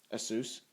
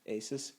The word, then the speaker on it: Asus: was an asus motherboard asus asus asus however you pronounce it i'm gonna call it asus because that's how their phone number pronounces it i actually called their